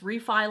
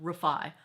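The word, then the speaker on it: Refy: It's refi like alone except put the emphasis on on the second syllable. Emphasis on the second syllable. Rafi.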